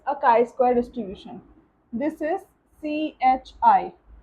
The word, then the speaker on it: chi: This is CHI. It is not pronounced as ki or chai, it is pronounced as chi.